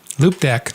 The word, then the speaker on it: Loupedeck: Okay, pronounce it, Jay. Loupedeck.